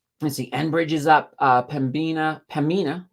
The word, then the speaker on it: Pembina: Pembina. I gotta be careful not to pronounce that B because it's silent.